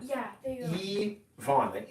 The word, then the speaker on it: Yvonne: Yvonne. Yeah, there you go. Yvonne. The Y is an E.